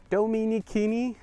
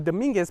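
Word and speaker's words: Domenigoni: the the the road it's the dominicani parkway so i always thought it was dominguez parkway and i always read it wrong but you take that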